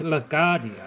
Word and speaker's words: LaGuardia: O'Hare is in Chicago, New York City, and it's pronounced LaGuardia.